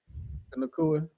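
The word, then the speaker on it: Nacua: just keep saying Puka Kanua. I think when I do get my dog, that's gonna be the dog's name, Puka Kanua. Nakua.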